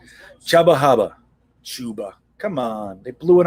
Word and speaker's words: Chuba: that i hate that we have to pronounce it chuba that should be chubba hubbard shouldn't it that pisses